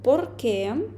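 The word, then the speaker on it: por qué: важливий момент не забуваємо що слово порке відокремлюється і наголос йде на ке це питальне слово якщо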